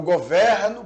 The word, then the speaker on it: governo: político diz isso enquanto neste caso o governo Esse é é de timbre fechado então É como se eu tivesse com assento circunflexo embora não tenha de Fato né o